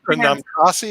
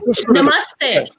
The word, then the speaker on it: Namaste: Pronounce it, Nick. Like Namtasi, or whatever they call it. Namtasi. Namaste. Namaste. I'll get that down.